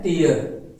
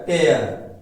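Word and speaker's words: tear: टियर और वही देखिए स्पेलिंग सेम है टी इ ए आर लेकिन इसका प्रोनाउंसिएशन उच्चारण देखिए अलग हो जाएगा टियर टयर मतलब होता है फाड़ना क्या होता है फाड़ना टियर आंसू टयर फाड़ना साउंड क्या है अलग-अलग है स्पेलिंग एक है साउंड अलग-अलग है।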